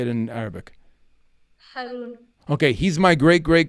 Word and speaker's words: Harun: Harun.